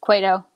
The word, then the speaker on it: Cueto: that i'm kind of like what john it's cueto okay um so i mean you know kershaw